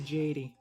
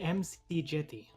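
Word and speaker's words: McJty: McGill t make a Jady Jady is that how it's pronounced I don't know it's all letters all consonants it's actually MC Gitty is how he himself pronounces it definitely wait the interesting on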